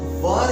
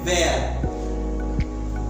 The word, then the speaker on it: were: और यहां पर एक चीज मैं बताना चाहूंगा, बहुत सारे स्टूडेंट ये जो वर है उसका उच्चार करते हैं वेयर। अभी उनकी भी गलती नहीं है, उन्होंने कहीं ना कहीं से सुना होगा, लेकिन इसका जो प्रॉपर प्रोनाउंसिएशन है, प्रॉपर उच्चार है, वो है वर। जैसे वरमाला होती है ना, वरमाला, उसमें कैसे वर होता है, इसका उच्चार वर है।